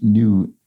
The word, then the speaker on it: gnu: Nicole Hicks says the G is silent in GNU, GNU, at least in the referenced animal.